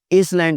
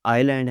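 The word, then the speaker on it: island: इसलैंड नहीं है, ये आइलैंड है। इसलैंड नहीं बोलना, एस साइलेंट है।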